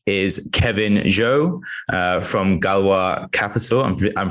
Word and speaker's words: Galois: guest this week is kevin joe uh from galwa capital i'm pronouncing that right i did my research before